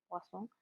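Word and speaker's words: Poisson: ini bacanya bukan poison ini e posong.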